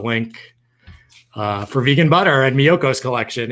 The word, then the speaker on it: Miyoko's: It's Miyoko's. I think I'm writing it out. Miyoko's. It's Miyokos. Miyoko's.